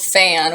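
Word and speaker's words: Phan: chapter 8 and it's called fan which is spelled PHA n like the name so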